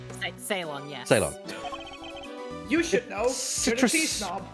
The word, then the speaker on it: Ceylon: I think is that pronounced Ceylon? Ceylon, yes.